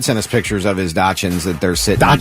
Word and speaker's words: dachshund: Chad sent us pictures of his Dachshunds that they're sitting. Dachshunds? Dachshunds. Wait a minute. No, go ahead. How do you say it? Dachshund.